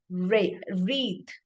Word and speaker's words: wreath: W is silent there words wreath when we say wreath W is silent let's take the second